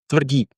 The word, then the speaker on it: Tvrdik: and you'll teach me your second name, Tvrdik. One more time. When I want to say it to some speaker or somewhere, I say Tvrdik, but the right pronouncement it's Tvrdik.